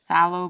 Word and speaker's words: phthalo: The P is silent. Phthalo blue.